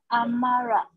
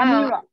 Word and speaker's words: Amira: Nama saya Amara. Not Amara. Amira. Amira, yes. Amara is angry.